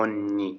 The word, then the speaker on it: ogni: ये हो गया एवरी, हमेशा, तो उसको बोलते हैं ओन्नी। जो जी है वो रहेगा साइलेंट, ओन्नी।